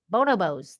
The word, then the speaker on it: bonobos: my favorite bow bow no bows bono bows bono bows there you go i say it right uh